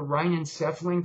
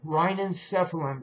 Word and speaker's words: rhinencephalon: It's called the rhinencephalon complex. If you want to look that up, it's spelled RHEINENCEPHALON, rhinencephalon complex, okay?